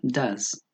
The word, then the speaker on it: does: Do, se le agrega la ES, en este caso se pronuncia does.